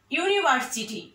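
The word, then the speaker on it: university: তারপরে আরেকটি দেখো, this is এ ইউনিভার্সিটি। ইউ, হ্যাঁ, ইউনিভার্সিটি, ইউটা কিন্তু ভাওয়াল কিন্তু উচ্চারণটা ইউ এর মতো, এজন্য এর পূর্বে আর্টিকেল কি ব্যবহৃত হয়েছে?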